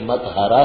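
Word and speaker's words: متھرا: زبان میں مترا ہے، مترا یہ مترا نہیں ہے، یہ متحرا ہے، طے شدہ ہے، یہ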